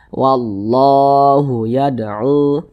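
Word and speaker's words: وَاللَّهُ يَدْعُو: Nah, jadi cara membacanya itu dengan cara langsung dimasukkan ke huruf lam ini. Jadi huruf lam yang ini tidak dibaca, makanya di sini kan tidak ada tanda bacanya. Nah, dibaca wallahu yad'u.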